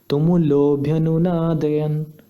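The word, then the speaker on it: तुमुलोऽभ्यनुनादयन्: तो अगर प्लुत स्वर जब लगा है तो फाइनली इसको कैसे प्रोनाउंस करना है, मैं फिर से करता हूँ, तुमुलोभ्यनुनादयन, इस तरह।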